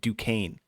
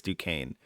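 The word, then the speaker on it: Duquesne: to say this today you say it Duane oh that due I think so I I almost heard that's how they were saying it I could still be wrong but it it phonetically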